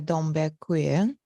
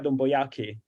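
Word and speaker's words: Yiadom-Boakye: I was looking at a book about Linetia Dombe-Queen, if I pronounce it correctly. You mean Linetia Domboyaki, the British?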